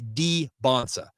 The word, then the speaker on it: Dybantsa: It's Dybantsa.